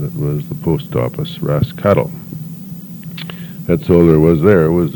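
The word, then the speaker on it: Roscathail: was from Dublin anyway she directed us to Ross cattle told us how the Gaelic name would be spelled it's spelled r-o-s-c-a-t-h-a-i-l and pronounced Ross cattle the English which she told us was also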